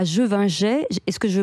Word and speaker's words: Gevingey: Donc vous êtes avant tout vigneronne, vous exploitez avec votre mari le domaine Champ Divin à Jevinget. Est-ce que je prononce bien ?